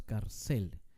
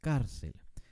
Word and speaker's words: cárcel: tipo de palabra es esta es una palabra grave porque el énfasis está en la penúltima no es cárcel es cárcel veamos otro ejemplo la